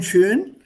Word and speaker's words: schön: Okay, so be very careful here. Schon, schön. Die Aussprache ist sehr, sehr wichtig. Because if you mispronounce it, the meaning will change.